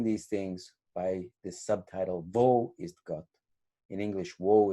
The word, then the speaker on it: wo: And the German wo is pronounced with a V, but in English, woe, W-O-E, is a kind of despair or difficulty or turmoil, the negative thing.